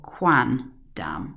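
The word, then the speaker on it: quandam: The accusative of quai is quam, but instead of that we've gone for quan dam, again just to make the pronunciation easier.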